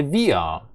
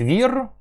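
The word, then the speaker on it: wir: Ми німецькою буде віа. Отут те ж сама історія, що і він вокалізується. Остання буква р. І вимовляємо ми його як віа. Віа. Часта помилка. Або кажуть вір, або кажуть ві без нічого. Ні, тут потрібно, щоб була оця а, але вона ледьма.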